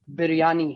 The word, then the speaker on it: biryani: So I would recommend now hold on biryani a second for on that.